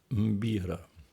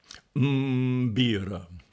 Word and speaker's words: mbira: particular instrument, the African mbira. That's a word spelled m b i r a. You have to start with a mm followed by a b. Mm-bira.